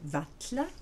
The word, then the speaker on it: varla: Norrois kalla, qui veut dire appeler, devient katla avec un élément dental, ainsi que norrois varla, à peine, qui devient vatla et vient prononcer de la même façon que double L.